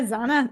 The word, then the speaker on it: Zana: know i mess up my own name yeah zana zana i mean they're gonna have to they're